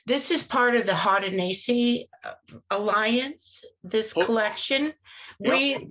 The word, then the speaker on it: Haudenosaunee: And when the name is actually Haudenosaunee. Haudenosaunee. I've Yeah. never known how to say it correctly. It does not sound like it looks like it's spelled right.